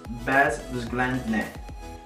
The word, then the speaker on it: bezwzględne: If not, then let me know how to pronounce it correctly, okay? And then the next one is bezwzględne.